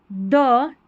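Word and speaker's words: the: द टी एच ई को दी भी पढ़ते हैं। ये इस तरीके से दी भी पढ़ते हैं। यहां पर जो स्पेलिंग रहेगी इसका पहला लेटर वोवेल रहता है। जैसे कि यहां पर अगर होता एिफेंट तो इ रहता ना पहला लेटर ई साउंड रहता।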